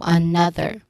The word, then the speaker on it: another: The stressed syllable here is on the second syllable na. So another. Okay, another. So you use the voice th sound again. How do you see or